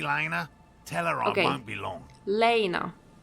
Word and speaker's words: Lena: telluride won't be long lena lena okay that's how it's pronounced i see sir your